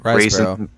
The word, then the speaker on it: Riseborough: Oh, how do you pronounce her last name? Riseborough.